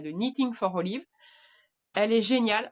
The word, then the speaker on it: Knitting: Euh, c'est la Olive Scarf de Knitting for Olive, de Knitting, pardon, on prononce pas le cas, de Knitting for Olive.